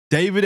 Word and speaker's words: D4vd: David Anthony Burke, known professionally as David. That's spelled D 4 V D because everything's got to be extremely cool these days.